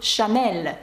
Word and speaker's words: Chanel: А чому на початку сполучення «ch» читається як «sh»? Тому що це правило. «Ch» у французькій передає звук «sh». І марка «Chanel» тому дуже яскравий приклад.